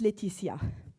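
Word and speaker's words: Laetitia: It's pronounced Leticia.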